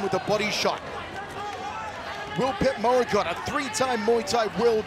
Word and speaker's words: Petchmorakot: The CH is silent, by the way. That's why it's not Petchmorakot, it's Petchmorakot Petchyindee Academy.